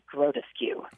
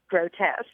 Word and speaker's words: grotesque: and I huddly replied oh that is grotus skue not realizing that the word was actually pronounced grotesque oh no I think